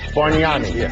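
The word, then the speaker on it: Bargnani: nicobar here's reality bani the g is silent the D is Sil to barani barani a roll end but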